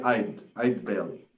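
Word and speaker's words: Eide Bailly: So I want to make sure it's Eid Bailey. Is that how it's pronounced? It's actually Eid Bailey.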